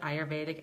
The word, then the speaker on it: Ayurvedic: but it's an Ayurvedic that's the way you pronounce it Ayurvedic Ayurvedic drink and it's best done before bed